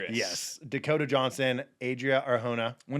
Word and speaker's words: Arjona: Dakota Johnson and Adria Arjona. Is that how you pronounce it? Uh she is Latina. So is Arjuna.